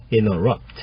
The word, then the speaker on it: interrupt: 이런 식으로 말하셔도 좋습니다 interrupt 이제 t 발음을 약하게 하면 interrupt 이렇게 되는데요 i t i upt 이렇게 되는 거죠 I don't mean to